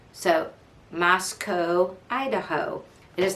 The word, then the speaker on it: Moscow: It's pronounced Moscow. You can remember because it rhymes with Idaho. So, Moscow, Idaho. It is not Moscow because it's not Idaho.